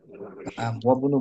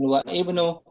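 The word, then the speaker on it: وابن: Wabnu bacanya begitu sudah betul. Wabnu jangan wa ibnu y wabnu.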